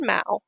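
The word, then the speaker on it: mau: maos today the egyptian mao mao is the egyptian word for cat and rhymes with cow is believed to be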